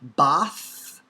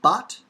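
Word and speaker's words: בת: to so here but is the hebrew word for daughter originally bath bath but modern hebrew bot and so we also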